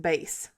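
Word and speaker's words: Béis: I think it's called pronounced bass it's be i s is the brand and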